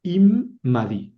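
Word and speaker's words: עִמָּדִי: Hay entonces ahí dice imadi. Immadi son eh tres sílabas. La primera es im. Im con una mem. Im. La segunda sílaba es ma. La otra mem con la came. Y la tercera sílaba es di.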